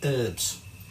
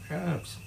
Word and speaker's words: herbs: Americans watching this, but Americans always call herbs. And old Max always insists, that's Max from Tasting History, that's how you're meant to pronounce it, herbs. And it's like, no, herbs.